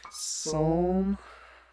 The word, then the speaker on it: psalm: side here we've got psalm 38 for those who don't know the p in psalm is silent wow josh thanks such